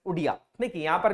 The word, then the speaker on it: Odia: आगे बात की जाए 96 amendment substituted Odia from Oriya, consequently the Oriya language in the 8th schedule shall be pronounced as Odia।